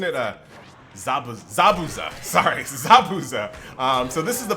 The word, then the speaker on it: Zabuza: just like the anime and I said his name wrong isn't it uh Zab Zabuza sorry Zabuza um so this is the battle the bridge